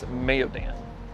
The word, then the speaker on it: Mayodan: And I did ask someone and the pronunciation of the name of the town is Mayodan.